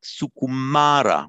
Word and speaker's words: sukumara: But it's not sukumara, but sukumara with the long A. And so we put our long stroke there. So we've got now sukuma. And the final letter, sukumara. This is the letter R. This final syllable is just the R with a short A, R.